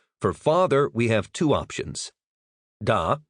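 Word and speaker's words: faither: Pronounce that like feather but with a long a sound.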